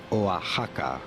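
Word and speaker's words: Oaxaca: Instead, in Spanish, it is pronounced as Oaka. Oahaka.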